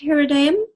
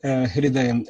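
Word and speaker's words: हृदयम्: And how do you spell that word, hridayam? Yes, that's a very good pronunciation. Hridayam, H-R-I, Swamiji, D-A-Y-A-M, hridayam.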